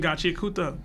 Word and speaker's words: Gachiakuta: You need to start watching Gachiakuta. I think it's Gachiakuta. Gachiakuta. Gachiakuta. They said it can be pronounced both ways, man.